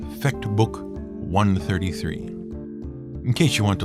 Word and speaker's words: I.33: Let's leave you with the story of Fecht Book 133. And even though it is written as capital I.33, that's how it's pronounced. Fecht Book 133.